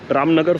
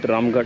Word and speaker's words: Ramnagar: so that's Ram good ramnagar Fort sorry I keep pronouncing it ramard again and again and that's the small